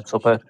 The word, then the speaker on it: Sopaj: Yeah, Sopaj.